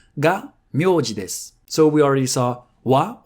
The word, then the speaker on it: は: So we already saw wa or ha read wa as the topic particle.